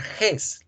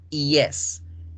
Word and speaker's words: yes: No significa que la palabra yes la van a pronunciar ges, la pronuncian yes, yes.